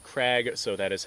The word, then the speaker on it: Krag: for the most part most people pronounce it craig so that is how